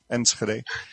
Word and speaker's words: Enschede: the netherlands if you're not dutch you won't pronounce that city name correctly enschede it's a place both walter and i know